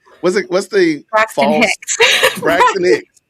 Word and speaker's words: Braxton Hicks: Braxton Hicks? Brixton Hacks. That's how she would pronounce it.